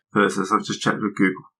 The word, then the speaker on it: Thyrsus: It's Thyrsus. Thyrsus. I've just checked with Google pronunciation.